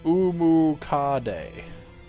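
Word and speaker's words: Omukade: yet um great centipede so uh pronounced umuka day literally hundred legs in japanese this yoko takes the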